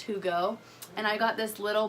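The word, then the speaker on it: hygge: is a Danish word for the longest time I thought it was hi ghee and I kept saying that but it's actually pronounced whoo go and I got this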